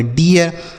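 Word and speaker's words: deer: तो डी से पढ़ेंगे डॉ, डबल ई का उच्चारण ई है तो ये हो गया डी। आर से रॉ, इसे पढ़ेंगे डियर।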